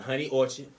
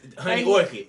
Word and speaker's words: Honey Orchid: video is sponsored by the honey orchard did i say it right i didn't no it's honey orchid orchid honey okay all right as as usual